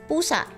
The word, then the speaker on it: pusa: You would say pusa.